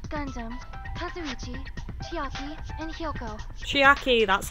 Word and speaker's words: Chiaki: team were myself Gundam kazuichi chiaki and hiyoko chiaki that's how you say it spending the night